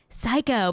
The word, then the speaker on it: Syco: Psycho, but it's spelled SYCO.